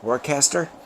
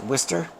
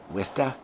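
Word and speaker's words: Worcester: know uh to everybody else that looks like warcaster uh but uh it's pronounced whester and um or in the uh Mass vernacular wsta um along the same line is uh conquer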